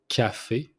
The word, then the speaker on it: café: You pronounce the C like it's a K, so café.